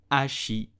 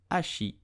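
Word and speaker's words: hachis: my work okay so you will pronounce it Ashi the H is totally silent so do not pronounce it but just Ashi paramounty did you know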